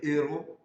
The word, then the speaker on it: héros: So you see that the H is not sound. It doesn't sound. So we have la hanche. Then we have le héros.